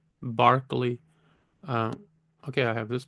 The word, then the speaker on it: Berkeley: Lo Barkley and Hume pronounced Barkley not Berkeley Barkley uh okay I have